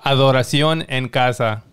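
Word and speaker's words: Adoración en casa: with that one that's good for sure uh adoration and casa that's that's how you say it what does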